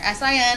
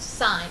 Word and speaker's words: sine: these on your calculator si n cos TN what this stands for is the sine function pronounced sign SiGe GN like spa